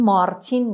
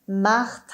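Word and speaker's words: Martine: تلفظ فرانسوی بگیم دیگه پس این مارتین نیست میخونیم مخت ا ان رو میخونیم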